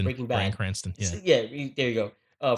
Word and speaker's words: Cranston: Just like when the rumors were that it was going to be Brian Cranshaw. I don't know how to Brian pronounce it, Cranston. Breaking Bad. Brian Cranston.